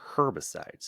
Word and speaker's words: herbicides: No, there's no H. It's a silent H.